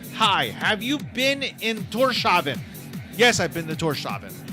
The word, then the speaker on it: Tórshavn: They pronounce like the way it's pronounced is like Tórshavn.